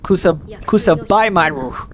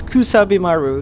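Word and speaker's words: Kusabimaru: don't know western western people player keep on pronouncing cusabi Maru as Kus kab Maru which is very very very mispronunciation there it's kusabi Maru instead of kusu they say it's kabu it's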